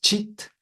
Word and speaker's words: cit: même c'est construit sur le mot cheat CIT qui se prononce cheat en sanscrit qui veut dire conscience